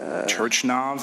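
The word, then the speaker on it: Turchynov: Turchinov, is that how you say it? Turchinov, thank you for helping me.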